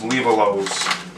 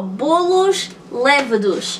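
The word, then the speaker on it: bolos lêvedos: That's called proofing, and that's what we're going to do with these little bolos, levolos. Tell the viewers at home how to say it for real. Oh, bolos levados.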